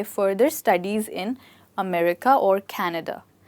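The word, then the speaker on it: Canada: आगे पढ़ाई के लिए कनेडा जाना चाहती हूं और इंग्लिश में आप कनाडा बोलें अब चाहे हिंदी बोलें चाहे इंग्लिश बोलें आप इन्हें अमेरिका और कनाडा बोलेंगे इससे अगला वर्ड है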